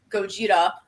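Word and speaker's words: ゴジラ: obviously from Japan and in Japanese it's Gogeta which is literally a combination of the word for gorilla and kujira which is whale because of the two biggest animals that they know of so they combine the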